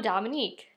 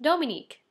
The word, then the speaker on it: Dominique: Hiya, I'm Dominique, sometimes pronounced Dominique, because it's French.